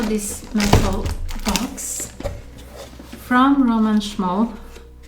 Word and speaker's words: Szmal: And yeah, Roman Szmal pans, and also this metal box from Roman Szmal. I'm saying this in English like Roman Szmal, but it should be pronounced Roman Szmal.